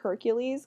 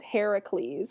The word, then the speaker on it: Heracles: that literally the name Hercules came from the fact that the Romans couldn't pronounce his actual name his name was Heracles with a k and not Hercules Heracles but the Etruscans had